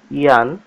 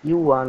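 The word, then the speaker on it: yuan: আচ্ছা বন্ধুরা, এখানে চীনের মুদ্রার নাম রয়েছে ইয়ান, অ্যাকচুয়ালি এটা ইউয়ান উচ্চারণটা হয়, এখানে ইয়ান রয়েছে, যাই হোক ইউয়ান হয় উচ্চারণটা।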